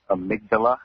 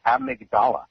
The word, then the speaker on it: amygdala: I know she's a nurse, but it's pronounced amygdala in the brain. What? I thought also Robin. What? I didn't study the brain. No, you said a part of the brain. You said amigdala.